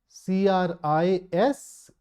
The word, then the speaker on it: crises: Now the plural of crisis is CRISES, and this last ES is pronounced as ease.